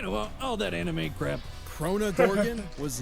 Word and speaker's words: Crona: unbreakable friendship you know all that anime crap crona gorgon was not chronos okay i said it right buckle up it's